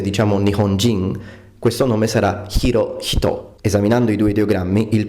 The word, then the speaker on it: Hirohito: alleggerito delle aspirate Ma la h aspirata in giapponese va pronunciata sempre senza eccezioni Quindi come Giappone diciamo nihon con l'h e giapponese diciamo nihonjin questo nome sarà hiro hito esaminando i due ideogrammi